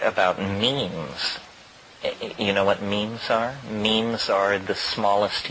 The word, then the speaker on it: meme: means you know what memes are memes are the smallest units of a concept and they're like genes the word is deliberately constructed to rhyme with Gene and so when I